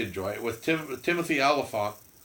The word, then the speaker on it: Olyphant: it with Tim Timothy Olyphant not elephant Oh Holly front but